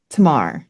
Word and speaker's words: Tamar: So you're talking about Yeah, Tamar, right? Is that how you pronounced it?